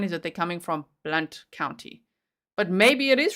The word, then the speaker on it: Blount: Jen Pookie said Blount County is around, so pronunciation Blount, okay, is around Knoxville, Tennessee.